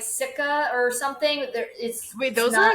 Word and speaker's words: Sika: Sika?